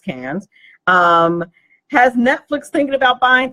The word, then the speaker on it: Cannes: interesting the Cannes Film Festival I believe it's pronounced Cannes has Netflix thinking about buying theatres this is